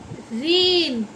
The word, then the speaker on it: reign: और REIGN, इसको बोलते हैं रेन।